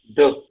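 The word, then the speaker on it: deux: Duh. Duh. Which means which means two in French, right? Duh. So basically you're not pronouncing x here.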